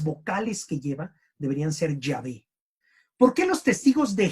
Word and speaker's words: Yahvé: y wh o Yhvh quiere decir eh eh Yahvé. Yahvé. En realidad las vocales que lleva deberían ser Yahvé.